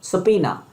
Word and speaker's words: subpoena: Let us talk about word number 9, and it's pronounced like subpoena. It's pronounced like subpoena.